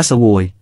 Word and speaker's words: ស្វោយ: กลายเป็น พระเขนย ก็ถือว่าคำนี้ เป็นคำราชาศัพท์ คำว่า เสวย มาจากภาษาขอมว่า สะเหวย ស្វោយ ออกเสียงว่า สฺโวย, หมายถึง กิน, ครอง หรือออกเสียงว่า โซ้ย